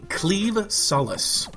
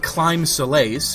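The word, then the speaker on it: Claimh Solais: a very strange pronunciation the word that is spelled c l a i MH is actually pronounced cleave kind of like a sword cleaving thing which is kind of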